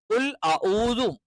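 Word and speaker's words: قُلْ أَعُوذُ: ഉച്ചരിക്കുന്നത് ഒരിക്കൽ കൂടി പറയാണ് കുൽദു എന്ന് കറക്റ്റ് ഓതണം കുൽദു ആയി പോകരുത് കുൽദു ആയി പോകരുത് കുൽ അഊദു ആയി പോകാൻ പാടില്ല കുൽ അഊദു എന്ന് കറക്റ്റ് തന്നെ പറയണം പിന്നെ ബി റബ്ബി അത്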